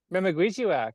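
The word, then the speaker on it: memekwesiwak: Is that how you pronounce it? Memaguichiwak, yeah.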